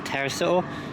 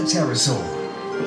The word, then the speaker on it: Pterosaur: I think that's Flight of the Pterosaur. I think that's how you pronounce it anyway. I think it's a silent P.